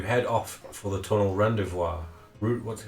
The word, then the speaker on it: rendezvous: That night, after Loria has picked the locks on your chains, you head off for the tunnel rendezvous.